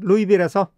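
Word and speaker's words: Louisville: 그 아이는 루이딜 출신이야 여기 루이빌리라는 지명의 s가 붙어 있지만은 에스 발음을 하지 않습니다 이렇게 S 발음을 안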